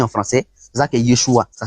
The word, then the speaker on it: Yeshua: En araméen, là, le nom de Jésus là, qui a été transmis en français, c'est ça que Yeshua. Ça s'écrit Y-E-S-U, Y-E-S-H-U-A.